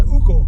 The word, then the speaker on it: Hugo: how we say Ugo. Ugo, there you go. So it's an Uber. Yes. It's a bit like calling an Uber. That's it. Uber. It's the silent H. Don't pronounce the letters.